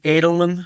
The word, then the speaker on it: Eidelman: me on LinkedIn uh I'm the only Adelman by the way is how it's pronounced but Adelman okay but uh connect with